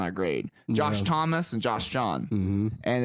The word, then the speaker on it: Josh John: Joining with us is Joshua John, or some would say Josh John. That's right. One syllable. One syllable, Josh John.